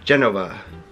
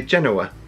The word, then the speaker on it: Genova: today we were in Genova which there's a v in it here in Italy but in America we say Genoa yes but here they say Geneva and they spell it with a V mhm but we went